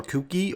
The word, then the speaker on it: Kouki: the s14a or the S14 Ki or cookie or Ki however you want to pronounce it in fora Horizon 3